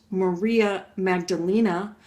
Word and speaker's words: Maria Magdalena: everybody knows about Saint well here it's it's pronounced Maria Magdalena but Mary Magdalene the penitent and this is